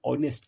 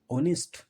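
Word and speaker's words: honest: hard working and ऑनेस्ट इसको नेस्ट नहीं पढ़ेंगे इसको पढ़ेंगे ऑनेस्ट क्या पढ़ेंगे ऑनेस्ट वह प्रीश में और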